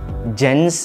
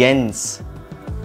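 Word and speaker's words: Jens: बार silent होता है जे को पढ़ते हैं वाई जनस नहीं यंस जे ई एन एस बन गया एस नेक्स्ट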